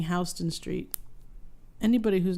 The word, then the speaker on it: Houston: will immediately think it's Houston Street. Yeah, why is it Houston? What kind of person says Houston except for Houston? Well, I think it's named after a person who pronounced their last name that way.